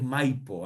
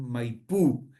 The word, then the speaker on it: Maipú: Y después derivó en Maipú, por un tema de que los argentinos, el idioma eh, nativo, más bien de carácter guaraní, acostumbra a acentuar la última sílaba de las palabras, ¿ah?